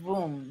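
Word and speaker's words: VAM: are music musically inclined this one is spelled V AM but it's more like room so it's wrong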